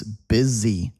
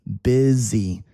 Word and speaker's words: busy: The client is busy. Busy sounds like B I Z Y, doesn't it?